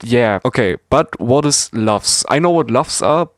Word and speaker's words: LUFS: LUFS should be pronounced like loves.